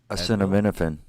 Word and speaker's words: acetaminophen: do you say the a version of tylenol acetaminophen yeah acetaminophen acetaminophen either yeah yeah that's either